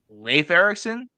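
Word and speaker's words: Leif Erikson: all and I did yeah it is it's pronounced Leif Leif Ericson yeah it's it's nor it's uh oh yeah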